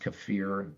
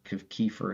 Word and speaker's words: kefir: kefir or actually pronounced kefir Kiefer is the American pronunciation um okay thank you